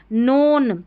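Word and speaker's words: known: बड़ी-बड़ी स्पेलिंग्स में अक्सर फिर ये देखिए नोन यहां पर क्या है नोन ये जो इसको ब्रेक करेंगे तो देखिए के एन जो है ना इसमें के साइलेंट है इसको नहीं पढ़ा जा रहा है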